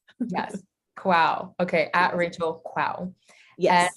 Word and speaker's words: Kwaw: Last name is KWAW, pronounced Quow, like wow. Yes. Quow.